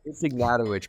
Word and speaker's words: Ignatowich: No, it's Ignatowich.